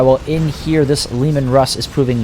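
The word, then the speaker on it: Leman Russ: Lemon Russ? It's Lehman Russ.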